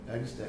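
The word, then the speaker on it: Agnus Dei: One of those songs was a song called Agnes Day. Mm-hmm. Am I pronouncing that right? Yep. Agnes Day.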